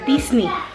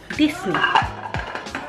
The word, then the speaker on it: Disney: En español, pero se pronuncia Disney. Disney.